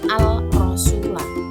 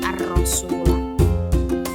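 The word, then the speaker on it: الرسول: Anisa Alif lamsah arasula setelah huruf Al itu ada huruf ro maka alnya tidak terbaca langsung diidamkan ke huruf yang ro menjadi arasula cara bacanya tidak Al rasula tapi arasula kemudian kita lihat contoh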